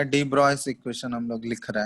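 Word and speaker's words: de Broglie: डी ब्रॉय उसको pronounce किया जाता है, ठीक है, जो कि कौन दिया था, लिखा जाता है ऐसे डी ब्रॉगली, ठीक है, लेकिन प्रोनाउंसिएशन होता है इसका डी ब्रॉय, ठीक है। तो ये ध्यान रखना, प्रोनाउंस किया जाता है इसको डी ब्रॉय से।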